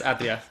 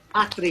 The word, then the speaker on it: Atria: It's Atria, but Atria.